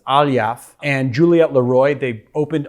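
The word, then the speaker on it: Aliyev: Mo Ali Aliya or Ali Graf? How do you pronounce it? Probably not like that. Aliyaff. Thought there was an R in there for some reason, but it's Aliyaff.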